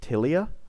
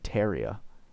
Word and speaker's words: Tilia: Oh, see, the English pronunciation is Tilia. I've been saying Teria and Theria.